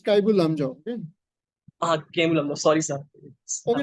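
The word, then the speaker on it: Keibul Lamjao: Kemlamjhao National Park. You should go back and check the correct pronunciation of that. Okay, sorry, sir. It's Kaibul. It's Kaibul Lamjao.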